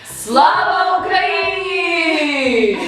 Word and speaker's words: Слава Україні: Slava Ukraini!